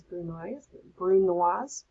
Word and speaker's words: brunoise: Brunoise, it's got a couple of different ways, but I pronounce it as brunoise.